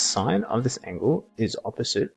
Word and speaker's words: sine: and s so the sign of this angle not sin is pronounced sine of this angle is